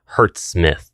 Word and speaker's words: HZSMITH: Link in description below hurt Smith that's how you say its name it's actually pretty badass name he's a Smith of Hertz that's the sound frequency that occurs whenever d